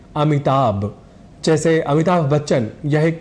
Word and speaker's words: अमिताभ: हम कह जाते हैं अमिताभ जैसे अमिताभ बच्चन यह एक प्रसिद्ध नाम है पर शीघ्रता वश या अनवत वश हम अमिताभ इस शब्द में भ की जगह ब यह उच्चारण कर जाया करते हैं और उच्चारण की दृष्टि